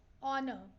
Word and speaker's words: honor: ours, and here also honor. Okay. So uh, H here is pronounced as ours. It is a silent. Okay. H over here and over here is silent.